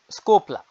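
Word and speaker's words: desculpa: পর্তুগিজরা কিভাবে উচ্চারণ করে? স্কোপলা স্কোপলা থ্যাংক ইউ বাংলায় ধন্যবাদ ইংরেজিতে পর্তুগিজ ভাষা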